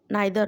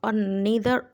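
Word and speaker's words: neither: इसको हम pronounce ईदर और नीदर और नॉर भी कह सकते हैं, बिकॉज एक अमेरिकन प्रोनाउंसिएशन है, एक ब्रिटिश है. एक होता है ईदर और नीदर नॉर, एक होता है आइदर और नाइदर नॉर. सो इट्स अप टू यू.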